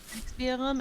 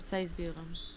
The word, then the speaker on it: Sexbierum: Yeah, it has two one. Sexbierum and Seisbierum.